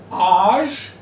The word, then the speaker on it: âge: एज I told you, 33% of English words have a French origin, लेकिन जी को आप ज पढ़ोगे. सो quel âge avez-vous?